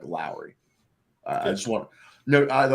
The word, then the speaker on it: Lauri: you know I think Lori is a lot more impressive is it Lori or Lowry I thought it was like like yeah like Lowry like Kyle Lowry even though it spelled